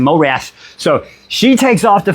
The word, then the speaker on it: Morath: So she's like, oh, say Eskra fucking flies back to fucking Marith. I said it right? Say okay, damn it, yeah. Morath. Yeah, I said like Mike Tyson, Morath.